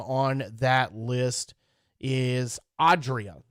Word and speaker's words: Adria: march the first name on that list is adria it's a-d-r-i-a uh but it's pronounced adria and uh that list will run